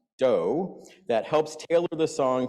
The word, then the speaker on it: do: that it incorporates including a movable do which is pronounced do that helps tailor the